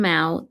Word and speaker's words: Maow: Her love for Eddie, Michael, and Mao, the rhyme with now as he was known, and Alexandra, or pudding as the family called her during her adolescence, was total.